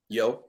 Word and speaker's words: Yeoh: Yeoh.